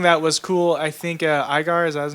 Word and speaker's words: Iger: But something that was cool, I think Igar, is that his name? Yeah, Bob Iger. Yeah, that's right. I couldn't say his name. Not Igor.